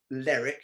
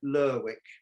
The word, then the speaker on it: Lerwick: principal city is called lerwick it's not like beric you don't pronounce it lyric you pronounce it lurwick so this is how